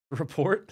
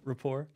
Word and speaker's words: rapport: Report? Yeah, the report. What's your relationship with the guy? You know him? Yeah. Is that a wrong word? Did I say it wrong? Rapport? Yeah. That's funny.